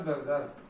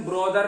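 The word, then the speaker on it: brother: हैज she written a letter to हर ब्रदर। इसका pronunciation ब्रोदर नहीं होता, ब्रदर। ब्रदर बहुत हल्का सा बोलते हैं।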